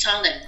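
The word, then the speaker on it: solemn: It's solem It's solem so we don't usually pronounce any word So it's solem When you say solem it very serious and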